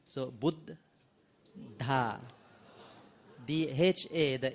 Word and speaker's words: Buddha: the be there is a BB right so boot ha the h8 h is of the audible boota